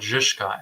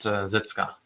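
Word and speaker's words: Žižka: Also, I was recently convinced by a viewer, I think from Czech, that he's called Zizka, not Zizka.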